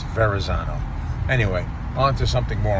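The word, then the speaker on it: Verrazzano: For you that pronounce it Veronzano, there is no N in there. It's Verzano.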